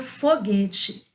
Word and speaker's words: foguete: Então, vamos observar aqui, olha que bacana, a palavra foguete, ela tem GU na sua escrita, porém, o U não é pronunciado, ele não tem som.